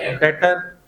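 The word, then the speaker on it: debtor: डेटर बी लिखते हुए तो आता है लेकिन बोलते हुए साइलेंट है। ये क्या वर्ड लिखा मैंने? डेटर।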